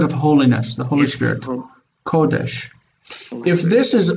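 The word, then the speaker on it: קודש: First pronounce it again, and then try to guess maybe. Kodesh. Maybe you've heard it. Hmm? Kodesh? Mm-hmm. Kodesh.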